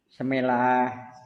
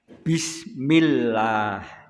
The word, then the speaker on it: Bismillah: Tapi kadang-kadang wong Jawa malah membacanya tujuannya baik, tapi bacaannya keliru. Semelah, ya semelah. Ya kedah di Pak, nanti kalau mendengar yang seperti itu diluruskan. Bismillah, Bismillah, dengan menyebut nama Allah.